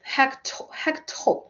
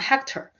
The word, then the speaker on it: hectometer: Yeah, hecto, not hector, hecto, kilo, hecto, deca, DAM, right? Dam, decameter, deci, DM, decimeter, centimeter, millimeter. Yeah, it's good that we actually pronounce it correctly. Kilometer, hectometer, decameter, decimeter, centimeter, millimeter.